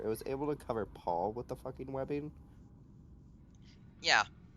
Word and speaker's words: Pol: My name's Paul. Yes. Paul. Oh. P-O-L. Yeah, pole as in like a street pole.